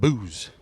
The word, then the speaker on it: Boos: All right, so we've confirmed booze is the pronunciation.